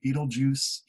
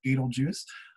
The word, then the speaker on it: Betelgeuse: star and we have Betelgeuse that's the way you pronounce it Betelgeuse there and if you